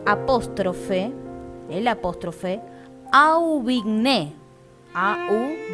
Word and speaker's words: Aubigné: es un autor alemán, D apóstrofe el apóstrofe, Aubigné, A-U, B larga I, G-N-E, acento en la E.